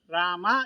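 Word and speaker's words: राम: ಹೇಳುವ ಪದ್ಧತಿ ಇದೆ ಉದಾಹರಣೆಗೆ ರಾಮ್ ಬಾಜಾರ್ ಕೋ ಜಾತಾ ಹೈ ಎಂಬುದಾಗಿ ಒಂದು ಹಿಂದಿ ವಾಕ್ಯ ಇದೆ ಎಂದು ಇಟ್ಟುಕೊಳ್ಳೋಣ ಇಲ್ಲಿ ರಾಮ್ ರಾಮ ಎಂದು ಕೂರಿತ ಬರೆಯುತ್ತೇವೆ ಆದರೆ ಹೇಳುವುದು ಮಾತ್ರ ರಾಮ್ ಮಕಾರವನ್ನು ಅರ್ಧ ಉಚ್ಚಾರ ಮಾಡುತ್ತೇವೆ ಹಾಗೆ ಎರಡನೇ ಪದವಾದಂತಹ ಬಾಜಾರ್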